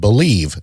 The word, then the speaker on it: BLEAV: Just use our promo code BELIEVE, that's spelled BLEAV, to get started.